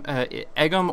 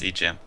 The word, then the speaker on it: EGM: As far as pronouncing your name, Egum or EGM? It's EGM.